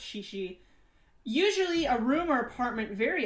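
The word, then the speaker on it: chichi: yeah um shishi that's spelled c-h-i-c-h-i but it's pronounced shishi usually a rumor apartment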